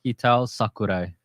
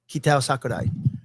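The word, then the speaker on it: Kitao Sakurai: How to pronounce the new Street Fighter director's name. Ktow Sakurai. There you go. Yeah. Ktow Sakurai.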